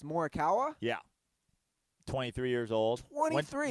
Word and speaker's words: Morikawa: feet of the cup and then is it pronounced morikawa yeah 23 years old 23.